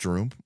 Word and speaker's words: Droon: Uh ooh, Droon is pronounced Droon. I got that right.